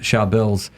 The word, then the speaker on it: Charbel: And it's a common thing, a lot of Charbels, because it's an Arabic or Syriac name specifically, and you say it like this, Charbel, very hard, it's a tongue twister.